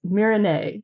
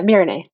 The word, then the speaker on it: Meerenai: Uh, so, uh, it's Mirin, right? Yeah. Mirin.